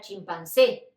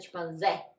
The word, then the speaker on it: chimpancé: todo cerrado por ejemplo la palabra chimpancé no es chimpancé no existe esa pronunciación siempre van decir chimpancé otras particularidades Es que